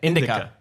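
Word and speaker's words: Indika: Indica, I believe is how it's actually pronounced. Yeah, sure. Get out. That's how they say it. Indica.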